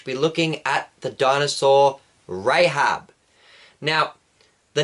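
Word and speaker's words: רחב: But Rahab, the human, her name is actually spelled with a Ches and would actually be pronounced Rahab.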